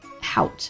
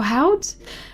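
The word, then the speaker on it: haute: I think haut is what someone gracefully told me last time is how to pronounce that.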